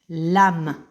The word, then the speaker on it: lame: Dans la langue française, on écrit avec un E ici à la fin. C'est un E muet. Lame.